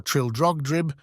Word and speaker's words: Trildrogdrib: It contained a warrant for conducting me and my retinue to Traldragdub, or Trildrogdrib, for it is pronounced both ways as near as I can remember, by a party of 10 horse.